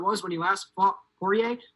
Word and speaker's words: Poirier: when he last fought pourier foie i keep pronouncing the r i took spanish in